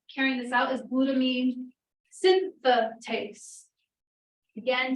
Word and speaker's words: synthetase: this out is glutamine synthetase again take note of the extra syllable there it's not a good